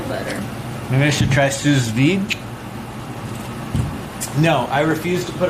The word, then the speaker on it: sous vide: I'm pretty sure it's sous vide. I think it's pronounced sous vide.